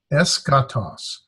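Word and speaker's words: ἔσχατος: Really, the technical correct answer is the sigma key can go together because that would be pronounced like ska. So ska, toss, eskatos.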